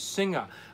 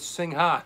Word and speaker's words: Singha: that with us about max so the correct pronunciation is singa okay that's pretty cool i always call it sing ha ha what the hell do i know and